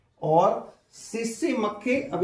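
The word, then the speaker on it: tsetse: और सीसी मक्खी, अब ये सेट सी होता है, वैसे तो वो टी को साइलेंट कर देते हैं, तो SCT होता है ना, वो SE फिर क्या मान लिया, CC।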